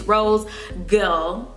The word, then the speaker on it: ROSEGAL: This is how you pronounce it, it's ROSEGAL. You know, a lot of people don't say girl, they say girl, but I like the classy name.